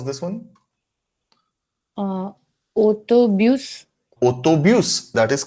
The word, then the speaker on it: autobus: Uh autobus. Autobus, that is correct. S is pronounced here, s is skipped here.